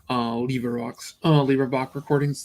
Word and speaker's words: LibriVox: leave a rocks uh libra box recordings it's a librivox is probably the correct way of pronouncing i put a link